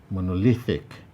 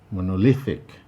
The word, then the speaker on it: monolithic: fantastic fantastic here we have three syllables fan tas you'll find that task in option b is highlighted that is the place with the primary stress tatin monolithic monolithic here we have four